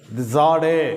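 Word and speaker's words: צדי: இந்த எழுத்தை சாடே அப்படின்னு உச்சரிக்கிறோம்.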